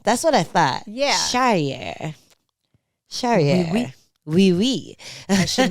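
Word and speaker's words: Charrière: In French, in France, we would say it as Morgan Cherriere. Cherriere.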